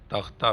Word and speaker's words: takht: But when it is pronounced as takht, it means throne.